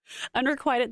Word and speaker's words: unrequited: you said un unrecorded unrequited love how was that different than what unrequited you're you're putting like quitus in there you put the wrong emphasis on the wrong syllable I am not in